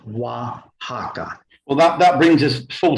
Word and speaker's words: Oaxaca: And as we see in this example, the X makes the J or the English H sound, as in the city of Oaxaca, spelled over here, but Oaxaca, is pronounced Oaxaca.